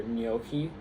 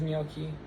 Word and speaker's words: gnocchi: A GN um in Italian is just the standard for the nya sound. So, it's like the equivalent of the N the nya um in Spanish.